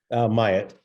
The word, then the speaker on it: Myatt: Is I pronounced this both right? Myatt.